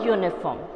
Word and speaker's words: uniform: is not a u sound correct so a uniform or europe yeah your sound okay even though